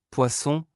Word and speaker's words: poisson: Une S simple entre deux voyelles se prononce comme Z en anglais, une SS double se prononce comme S en anglais, comme dans Sam.